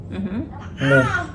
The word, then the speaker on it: moe: ben moe. Ik ben moe, like a cow moo? Yeah. Is it M-O-O? M-O-E.